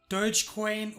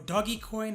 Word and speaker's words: Dogecoin: But just seeing this on his Twitter profile, smashed Dogecoin or Doggycoin, however you want to pronounce it, smashed it through the roof.